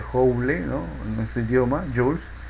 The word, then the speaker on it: Joule: El trabajo o energía o cantidad de calor se mide en Joule, se pronuncia Joule, ¿no?